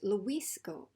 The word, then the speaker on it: Luis: And my brother is Luis Gomez. Luis. So that is on this syllable.